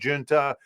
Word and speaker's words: Junta: Some people say Junta. Some people don't know how to say it. It's officially, I think, Junta.